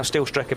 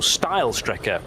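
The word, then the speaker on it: Steilstrecke: steel Striker is now still Striker being that effectively the straight line route through the karachiola carousel so uh or style Striker would be the correct pronunciation where the track used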